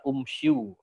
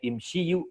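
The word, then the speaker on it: امشوا: Umsyu kan gitu ya. Nah, tapi itu tidak dibaca dengan dhammah tapi dibaca dengan kasroh. Jadi pada surat Shad ayat 6 ini bentuknya jamak aslinya imsyu ya, bukan umsyu.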